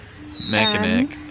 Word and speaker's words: Mackinac: The one spelled with a C, not a W. Mackinac.